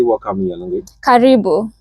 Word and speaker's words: Karibu: Karibu. Karibu.